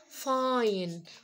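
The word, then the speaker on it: fine: ده الاي او الحرف يبقى الاي ده يا حبايبي هيتنطق اه زي ما هو طب والتاني يسكت اللي هو الايد ده هيسكت يبقى الكلمه دي انا هقراها ازاي فاين فاين يبقى هنا كده دي فيلم نطقنا صوته وهنا فاين نطقنا اسمه طيب كلمه زي دي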